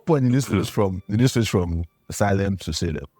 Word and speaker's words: Salem: So at what point did you switch from Salem to Salem? I think I found out that was the correct pronunciation.